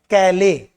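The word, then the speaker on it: Calais: door beach and कैले उच्चारण ध्यान देना प्रोनंसिएशन पर गौर फरमाना कैले केले फ्रांस का एक प्लेस है फ्रांस फ्रेंच ही प्रोनंसिएशन है उनके बीच में जो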